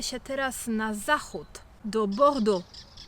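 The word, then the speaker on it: Bordeaux: teraz na zachód do bordu Zwróć uwagę na wymowę tej końcówki i chociaż nazwa tej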